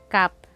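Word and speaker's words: 값: Halimbawa, sa word na ito which means price, Ang basa sa kanya ay cup. Cup. So, magiging silent S.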